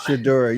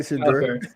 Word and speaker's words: Shedeur: a reps thing as far as getting with Shedeur. I think I say his first name right. I don't know if I do or not. Shedeur. Yeah, you said it right, Shedeur.